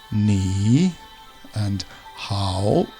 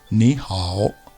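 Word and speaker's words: 你好: Notice above the I and above the A are circumflex shapes. These denote the tone you must say when you're speaking. It goes down and then up. Ni and hao. Although actually when two of these tones are together, the first one becomes more of just an upwards tone. Ni hao.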